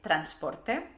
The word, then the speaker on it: transport: La primera sílaba es con A, totalmente española, NS. Y recordad que pensar en W os ayudará más a pronunciar la R correctamente en inglés, ¿ok? Transport. Port. Esta R en inglés estándar no se pronuncia para nada, así que es una O española, pero más larga, ¿ok?